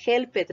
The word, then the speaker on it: helped: decirlo de manera correcta no es helped recuerden que no son dos sílabas es una sola la última es el